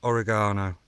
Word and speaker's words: oregano: bit of thyme, and oregano. Not oregano like the Americans say. It's oregano, it's Italian, so it's oregano, not oregano.